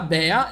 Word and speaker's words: Bea: E infine abbiamo Bea che usa il potere, diciamo, degli insetti. Il nome richiama l'ape, perché in inglese si pronuncia B, chiama proprio il rumore